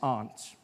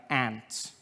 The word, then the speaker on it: aunt: For instance, I pronounce the opposites of uncle as aunt. I say my aunt. Out here you say my ant, which to me is an insect.